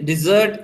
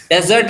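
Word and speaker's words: dessert: ये कुछ और उसके एग्जांपल्स हैं: plated डिजर्ट and chocolate cake. Plated, डेजर्ट नहीं बोलोगे, इसे डिजर्ट कहोगे, डी डी, डिजर्ट।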